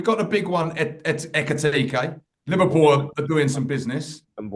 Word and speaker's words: Ekitike: Say that again, Sam. What's his name? Ekitike. Okay, I thought you added a couple more syllables in there. No, I made sure I checked it before I come on, actually, because it's easy to miss the K.